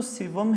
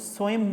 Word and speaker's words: سوم: ہے، رسم کل ہے، اصل لفظ تو سوم ہے، تو سوئم معروف ہو گیا ہے۔ جب آپ اعراب